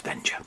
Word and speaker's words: Venger: That's Venger.